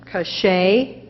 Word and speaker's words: cachet: confused with the similar word the word is cachet it is a noun meaning a characteristic feature